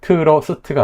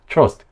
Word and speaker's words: trust: 그래서 이거는 트러스트가 아니라 trust 그냥 이 한 칸 음절 하나라고 생각하고 발음을 해주셔야 되거든요.